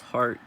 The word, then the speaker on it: heart: I did not know the e in this word as well as all its components and derivatives is dropped in pronunciation as heart heartache blah blah so what this tells me is that at some point this word was pronounced he art and that happens a